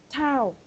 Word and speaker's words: town: This Town. town. Town. Okay, very good. Because the first time that you said that word, I cannot hear the N, the last N, the town.